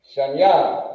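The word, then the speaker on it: שניים: Shanya, and this is how you say it. You pronounce it Akkad. Akkad. Then you got Shanya. Shanya equals 2. And this is how you pronounce it. Shan. Ya.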